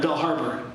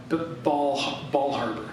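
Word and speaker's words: Bal Harbour: There's a shul down in Bell Harbor, Ball Harbor, not Bell Harbor, Ball Harbor down in Bal Harbor.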